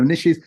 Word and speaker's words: niche: are the steps to establishing your niche or your niche? We know in that the riches are in the niches, or it doesn't rhyme with, doing it the other way. The riches are in the niches. Riches and niches.